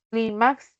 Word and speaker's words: Clímax: Clímax lleva tilde porque terminó en X.